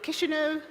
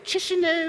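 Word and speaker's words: Chișinău: the beautiful city of kishu um I had to go online to know how to pronounce it because I was saying chishu and all of that I knew I was saying it wrong um I flew all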